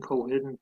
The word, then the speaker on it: Colquhoun: So if you go to Facebook and type in Simon Colquhoun page in the search box, so that's spelled Colhoun, there's no Q in that, Simon Colquhoun page, and you'll see this page here.